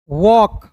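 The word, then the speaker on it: walk: काम वॉक डब्ल्यू ए एल के वॉक।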